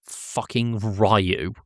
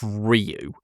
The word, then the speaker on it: Ryu: It's not Rayu. It's not Rayu. It's Ryu. The only character to pronounce Ryu's name correctly was Bison.